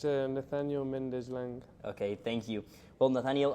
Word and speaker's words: Nathaniel Méndez: know if you can tell us the correct pronunciation of your name and last name it's a Nathaniel mendezlang okay thank you well Nathaniel um just by